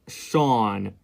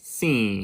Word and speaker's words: Sean: Because the way I pronounce my name is Sean, not Scene.